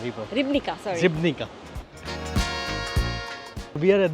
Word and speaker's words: Ribnica: I know I'm pronouncing it wrong, but Morak River, and the other one is Ribanka. Ribanka River. Ribnica, sorry.